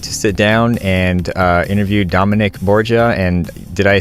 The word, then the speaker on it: Dominick Borgia: I finally get to sit down and interview Dominic Borja and did I say it right yeah you